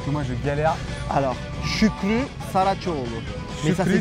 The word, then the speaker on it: Şükrü Saraçoğlu: Alors, Şükrü Saraçoğlu. Mais ça Şükrü s'écrit, Saraçoğlu.